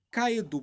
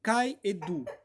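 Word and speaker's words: καὶ ἰδού: E essas ênfases estão nas palavras que, em grego, que é o original que a Bíblia foi escrito, é lido como kaedu, pronunciado como kaedu.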